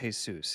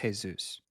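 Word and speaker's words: Jesús: Guys, it's pronounced Jesus. It's a common mistake, but it's a Spanish name. It's pronounced Jesus.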